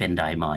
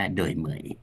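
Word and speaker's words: Đổi mới: เรา ไป อ่าน ภาษา อังกฤษ มัน จะ เป็น ดอย มอย นะ ฮ เอ เพราะ ว่า ตัว แซ มัน หาย ไป ภาษา อังกฤษ แต่ จริง ๆ เ้า เค้า เขียน แบบ ฝรั นะ ครับ ก็ เลย อ่าน ว่า โดย เหมย นะ ฮะ โดย โดย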